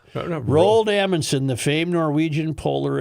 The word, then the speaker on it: Roald: R- r o a l d, how would you say it? How would you say it? Roald. Yeah, it's Roald. No, no. Roald Amundsen, the famed Norwegian